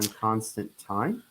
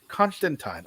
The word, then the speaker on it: Constantine: you mentioned uh Constantine isn't that constant time John constant time uh no we are not watching the Sandman so we don't pronounce it that way Constantine I knew your ancestor